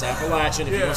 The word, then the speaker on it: Appalachian: Rebel let me hear about Appalachian State it's Appalachian if you don't say it say it right